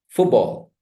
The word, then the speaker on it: football: Football. Football. Football. Football. Because the first lexical word has stress. That stress, that syllable gets prominence.